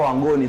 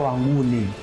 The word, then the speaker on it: Wangoni: wa kabila la Wanguni ndio hao Wangoni tu ni matamshi zamani miaka ya nyuma walikuwa wanaitwa Wanguni sasa hivi ndio wanawatamka kama Wangon sasa hawa walitokea South